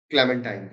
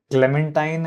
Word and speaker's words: Clementine: to say that uh Clementine as a character it it sounds like you have a disease like chamadia so I I don't it is rhyming with Valentine I just don't know